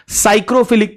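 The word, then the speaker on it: psychrophilic: प सरवाइव करने वाला साइक्रोफिलिक पीएस वाई जिसको बोलते हैं पी से स्टार्ट होता है पी साइलेंट होता है साइक्रोफिलिक मिलेगा कम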